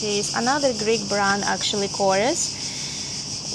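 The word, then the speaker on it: Korres: This is another Greek brand actually, Corores or I think they pronounce it here Cororez.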